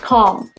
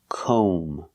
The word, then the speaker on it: comb: for your hair calm it's not calm we cannot use the short a sound like hot and stop Cal we have to use the long o sound like no and go we pronounce this word com o make the long o sound com and remember the B is silent don't pronounce the B comb so comb is